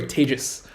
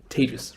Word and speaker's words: Tejas: That's pronounced like contagious, or maybe in pandemic times, advantageous is probably better. Either way, Tejas. Say it with me. Tejas, right?